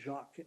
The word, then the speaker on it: Jacques: we now move to jack and my apologies if i'm not pronouncing it correctly yeah it's jacques uh sorry madam chair